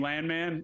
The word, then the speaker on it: Landman: And I will mention the last name Landman, which is actually pronounced Landman, I'm learning for him, just makes me think of our guy Billy Bob and a Paramount Plus show.